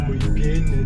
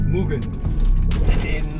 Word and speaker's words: Mugen: It's Mugen, by the way, it's not Mugen or Mugen, it's Mugen.